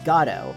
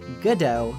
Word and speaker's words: Godot: much later Beckett would state that the proper pronunciation in his play was gato While most dubbed material for Ace Attorney uses a less dressed goodo when referring to him by contrast the Japanese